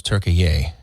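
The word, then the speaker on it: Türkiye: One of them is Turkey-ye. We have to We have to be more specifically pronouncing the actual pronunciation of the of the nation of Turkey.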